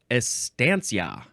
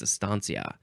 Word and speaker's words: estancia: H uh next is Estancia Estancia or is it Estancia I think it's aania uh yeah yeah aania